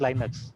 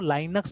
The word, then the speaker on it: Linux: Again हम कभी कभी लड़ते हैं लिनक्स एंड लाइनक्स में, है ना, ठीक है। तो माई ब्रदर प्रोनाउंसेस लाइनक्स, उसको लाइनक्स से प्रोनाउंस करता है वो लोग, LINUX, ठीक है, बट I pronounce it लिनक्स, है ना।